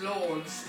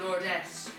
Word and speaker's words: Lourdes: And her daughter, everyone pronounces us as Lords, that's pronounced Lordess.